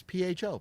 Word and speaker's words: pho: That is this week's Funny Farm Fuckery, and it's PHO, pronounced pho. Pho. There you go. Like the Vietnamese food.